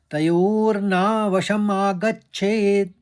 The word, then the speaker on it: तयोर्ना वशमागच्छेत्: और तीसरे चरण को देखिए, तयोर एक साथ कहा और ना, तयोर ना वशमागच्छेत्, वश कहा फिर मागच्छेत्, तयोर्ना वशमागच्छेत्।